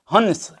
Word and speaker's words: हंस: है जैसे आप देखिए हंस हंस में अनुस्वार लगा हुआ है तो यह पूरा जोर पड़ रहा है ह पर अनुस्वार होने से हंस इस तरह का उच्चारण लेकिन जैसे ही यह